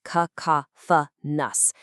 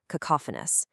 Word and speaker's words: cacophonous: It sounds like ka-ka-fa-ni for the noun, and for the adjective form we're focusing on today, it's ka-ka-fa-nus. Actually, try saying it out loud right now wherever you are. Cacophonous.